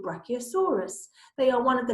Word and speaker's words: Brachiosaurus: its back legs how do you say it Brachiosaurus and it's really useful when they have these